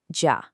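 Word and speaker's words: 家: This is ja and it's pronounced ja.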